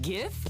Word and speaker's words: GIF: Wait, GIF or GIF? Hard G.